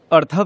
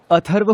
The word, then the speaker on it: अथर्व: अर्थव नहीं, अथर्व हूँ मैं। मेरा नाम अथर्व है।